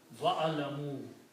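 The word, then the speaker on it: واعلموا: There's a wow before that, so you don't pronounce this alif. Wa'lamoo.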